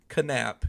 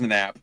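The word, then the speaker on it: Knapp: his name is Jake canap k n a p p so I'm just gonna pronounce it like that I don't know if it's just nap it's just nap yeah it's probably nap but Jake canap thank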